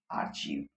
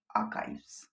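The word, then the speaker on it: archives: एक ये वर्ड दिया है 41 नंबर पे, इसको आप लोग क्या पढ़ते हैं? आर्चीव। बट इसका एक्चुअल प्रोनाउंसिएशन जो है वो आर्चीव नहीं है, इसका एग्जैक्ट प्रोनाउंसिएशन होगा आर्काइव्स। अगर एस हटा दें तो आर्काइव बोलते हैं, आर्काइव भी नहीं होता, इसमें आर का भी जो साउंड होता है बहुत स्लो हो जाता है, आर्काइव्स।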